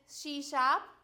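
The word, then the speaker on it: C#: visual सी प् प् सी pronounce S सी शप विजुअल बेसिक नेट विजुअल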